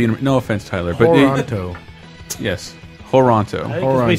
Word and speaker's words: Toronto: And B, it's pronounced Toronto, not Toronto.